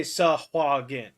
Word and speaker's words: Sahuagin: Well, in the Forgotten Realms wiki, they say Sahin, but Safuin always bothered me because it sounded weird.